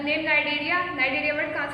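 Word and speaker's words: Cnidaria: Phylum सियोलेंट्रेटा, जिसको नाइडेरिया भी कहते हैं। इसमें भी सेम सी साइलेंट है, वो क्या कहते हैं इसको? नाइडेरिया, नाइडेरिया भी कहते हैं, ओके।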